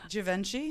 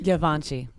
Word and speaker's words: Givenchy: Givenchy? Givenchy.